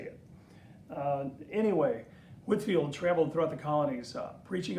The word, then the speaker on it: Whitefield: And I suppose I keep saying I grew up certainly not as a little boy, but I learned to say Whitefield, and I think the proper pronunciation is Whitefield.